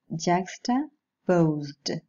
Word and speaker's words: juxtaposed: Words are juxtaposed. The ed ending should be pronounced with a voiced alveolar plosive. Juxtaposed, because the stem finishes in a voiced sound.